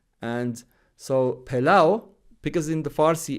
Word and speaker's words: pilau: Latin script, they write the waw is not pronounced, right? When we say pilau as in rice, it's a Persian word.